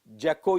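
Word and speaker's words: Jacolliot: India by the French judge Louis Jocko yeah that's what it is pronounced test now about this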